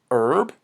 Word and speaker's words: herb: we learn e means herb ok herb we don't pronounce the H other herbs include mint